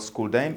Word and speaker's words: Xuldime: d i d-i-m-e uh and that is school then the school xul is um that's how the kids these days uh call school as their lingo and the dime